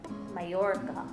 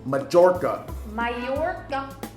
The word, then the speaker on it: Mallorca: than the island of majorca mallorca majorca mallorca i'm using my american ease no majorca yeah that's like one of my favorite uh instagram youtube social media mavens she pronounces mispronounces food stuffs all the time and i just i just shake my head okay why are you saying that well that's what americans do they mispronounce majorca all the time don't bother to learn what it really is before they start putting